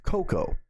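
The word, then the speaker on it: Koko: And today, one of the members that I have not yet heard from Virtual Witch Phenomenon is Coco. K-O, pardon me, K-O-K-O. It's apparently actually just pronounced Coco.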